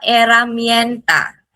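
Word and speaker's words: herramienta: La eramenta la eramenta H is silent laha this one H laha and then Laemia laia dou L is Y and then Laoseta last L Co.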